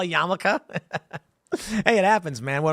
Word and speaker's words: yarmulke: I remember one time, 8 years ago, I said Yamulk because I didn't know how to spell yarmulke.